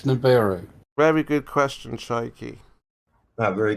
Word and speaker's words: Nibiru: say Chemo, at least try and say it correctly. It's Nibiru.